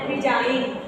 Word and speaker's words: resign: डिजाइन की spelling क्या हो जाएगी, DESIGN, डिजाइन, okay, रिजाइन, रिजाइन करना, okay, RESIGN, रिजाइन। साइन, साइन की स्पेलिंग क्या लिखते हो, सिग्नेचर जिसे बोलते हो,